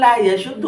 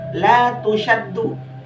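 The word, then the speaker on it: لا تُشَدُّ: Nah, tetapi Pak, itu bukan la yashuddu atau la yashaddu. Itu yang betul dibajhulkan, la tusyaddu, pakai tak la tusyaddu, bukan la yashuddu atau la yashaddu.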